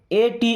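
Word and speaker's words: ate: लेकिन अब यहां पे जो ए आ रहा है उसका उच्चारण करते हैं ए की मात्रा। अभी ऐ की मात्रा लगा था। अब इ आ गया तो ए की मात्रा बनाएगा। देखिए जैसे ए टी ई इसे पढ़ते हैं एट।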